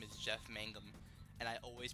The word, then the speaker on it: Mangum: Aeroplane Over the Sea, his name is Jeff Mangum, and I always pronounce it Jeff Magnum.